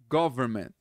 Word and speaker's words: government: TH, the government. Essa palavra aqui, government, esse N é muito raro ser pronunciado.